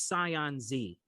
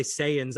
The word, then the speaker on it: Saiyans: I thought it was Scion Z. No, No, it's not. oh fuck, And anyone man. who watches Dragon Ball Z, it's Saiyans, but normal people or